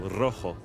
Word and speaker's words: rojo: in Spanish, for example, rojo. You have 2 different sounds. You have ro, you need to roll your R, and then you have ho that comes from the throat.